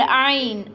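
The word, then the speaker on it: ع: And ain. Ain pronounced from the middle part of throat.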